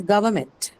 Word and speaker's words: government: So when you mark the stress for government, the stress is retained on the second syllable, which is one, because you have meant in that, and meant is a neutral suffix.